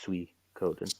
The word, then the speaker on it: Suikoden: mentioning and recommending s-u-i-k-o-d-e-n it looks like it's coding but it's pronounced sweet code so s-u-i and i'm